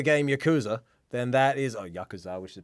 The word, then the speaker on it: Yakuza: If you play the video game Yakuza, then that is Yakuza, which is pronounced properly.